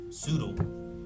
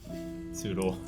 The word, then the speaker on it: Soodle: But if it had been an S and her name was Soodle. Yeah. Soodle. Rhymes with Noodle.